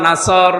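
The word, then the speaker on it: نصر: নুন সাদ র নাসর, নাসর মানে সাহায্য, এখানে সাদ মুখ দল করে উচ্চারণ করা লাগবে। সাদকে সিন দিয়ে বললে অর্থটা আকাশ পাতাল পাল্টিয়ে যাচ্ছে।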